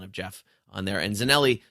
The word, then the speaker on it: Zanelli: Jeff on there and zanelli spelled like it sounds Za n i so